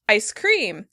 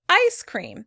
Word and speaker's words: ice cream: In British English, they stress the word cream. Ice cream. Ice cream. In American English, we stress the first syllable. Ice cream.